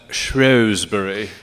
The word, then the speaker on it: Shrewsbury: The British pronounce that Shrewsbury.